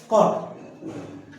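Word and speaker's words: caught: You silent हो गया, यू एल ए यू जी एच, you silent हो गया ना। केज की सेकंड फॉर्म क्या होती है? कॉट।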